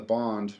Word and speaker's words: Bund: So the second part was I was in the Bond, which is it's spelled Bund, which is like the most touristy part of Shanghai, and it's not.